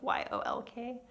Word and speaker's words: yoke: yolk is you know i always want to think it's yolk you know like an egg yolk spelled like y-o-l-k but it's y-o-k-e yolk anyway yeah so